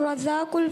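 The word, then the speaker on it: الرزاق: अल क़हार, वहाबुर रज़ाकुल फत्ताहुल। माशाअल्लाह, तीनों नाम दुरुस्त सुनाए हैं। थोड़ा सा प्रोनाउंसिएशन दुरुस्त करेंगे। अल क़हारू, अल वहाबू, अल रज़ाकू, अल फत्ताहू।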